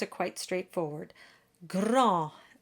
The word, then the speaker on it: grand: Grand, and the D is silent.